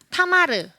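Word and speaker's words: תמר: 그리고 타마르 무슨 뜻이죠? 대취하자. 예. 성경에 나오는 다말. 네. 대취하자도 타마르고요. 타마르와 동일하게 다말의 히브리식 발음이 타마르입니다.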